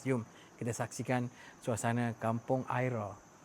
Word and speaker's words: Aira: Bukan sat ni ada Kampung Besar nama Kampung Aira Kuala Tig.